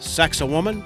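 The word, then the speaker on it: Sacsayhuamán: military functions and FYI sax of woman is the pronunciation we were given for this site number six lost pyramids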